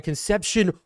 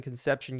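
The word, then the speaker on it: Concepcion: an absolute play Kevin conception getting in I think it's actually pronounced concepion but one-on-one there we're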